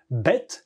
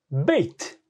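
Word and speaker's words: בית: B en fait s'écrit Beit et se prononce avec un you il y a un yode au milieu c'est assez c'est il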